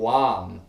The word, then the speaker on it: LAM: If you don't have the awareness, and you chanting LAM, L-A-M, okay, a one syllable mantra.